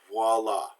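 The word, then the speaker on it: voilà: doing it as ooh oh I always makes the wah sound there's a W sound there so mwah Miss Piggy's word for me voila here it is has a dub use on vwa voila now there's some valves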